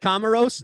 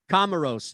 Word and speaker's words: Comoros: correctly komaros kimono gross is it comoros not commodore like the old computer kamaros is playing cameroon now